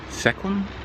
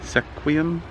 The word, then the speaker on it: Sequim: to seeing I'm in Sequim sequía there's a lot of towns in Washington that have names that are hard for outsiders to pronounce so I'm sorry Sequim sequía anyway I'm at the